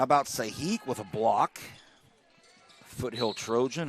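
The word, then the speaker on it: Sajic: How about Sahik with a block? Foothill Trojan. Her last name is spelled S-A-J-I-C. Very European last name, but it's pronounced Sahik.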